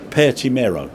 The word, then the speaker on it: Pertti Mero: Don't get me wrong, I can't even speak proper English, but I'm pronouncing it like Italian when I know it's Finnish, but it's Pertti Mero.